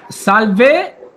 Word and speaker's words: salve: So you kind of say the first part of the word a little bit louder.